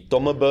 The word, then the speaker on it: tomb: Kámo to je těžký Tomb je velmi nepravidelný slovo to jako Tomb T bez b bez p bez ničeho tom Oni totiž slova který končej MB Tak to B se tam nevyslovuje a je to svým